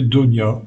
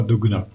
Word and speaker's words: Dogna: aussi Michel Donia et m'a certifié qu'il s'appelait Donia et non pas Dogna maintenant il y a